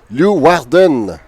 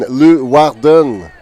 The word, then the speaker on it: Leeuwarden: 2020 aux Pays-Bas, dans une ville, pardonnez ma prononciation, Leeuwarden.